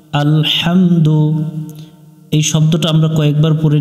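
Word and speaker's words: الحمد: এখানে আমরা লম্বা হা এটা হলকের মধ্য থেকে একটু বাতাস বের করে উচ্চারণ করতে হবে হাহামদু লি মিলবে লামের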